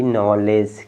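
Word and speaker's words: knowledge: ई silent है ठीक है तीन लेटर इसमें साइलेंट है आप इसको पढ़ेंगे के एन ओ डब्लू एल ई डी जी ई नॉलेज क्या है नॉलेज क्या है नॉलेज ये क्या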